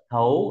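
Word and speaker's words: 亠: là gì nhở đoán thấu Đúng rồi T đọc thành th th u sắc thấu lớ cùng đọc thấu thấu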